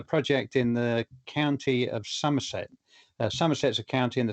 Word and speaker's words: Somerset: And I was doing a project in the county of Somerset.